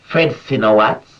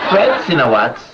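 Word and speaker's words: Fred Sinowatz: is an overseas item francino watts is so you pronounce it right fred sinawat leader of the spos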